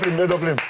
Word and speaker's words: Dopelym: Moi, je dis Doplim, c'est bien prononcé, la Doplim. C'est ça, c'est exactement ça.